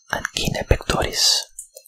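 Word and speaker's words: Anjin Pektoris: Ancine pectoris, which is simply the Turkish pronunciation of angina pectoris, otherwise known as angina, heart condition.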